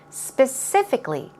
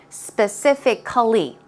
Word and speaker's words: specifically: especially or particularly and the stress goes on the second syllable specifically specifically if you take a look it's C al ly but we don't say specifically okay specifically specifically okay so moving on to